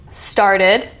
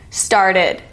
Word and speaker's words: started: Started. Started. This is the ID sound because the root word ends in T. It's also the new syllable.